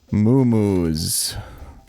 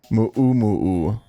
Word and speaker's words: mu'umu'u: Moomoos. Unfucking real. Mu'umu'u is how that's pronounced, actually. Cuz that symbol in the Hawaiian language is a glottal stop. Like if you're an American, the T in Batman.